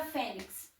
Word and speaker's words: fênix: Qual é a sílaba tônica da palavra fênix? Fé.